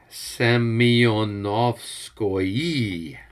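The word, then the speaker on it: Semyonovskoye: all right okay looks good and albert it's pronounced semi-onofskoye just just get it right next time ski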